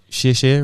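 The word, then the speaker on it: 谢谢: And did I pronounce shieh shieh right? Really well, actually. Yeah. Yeah. People have they struggle with the X.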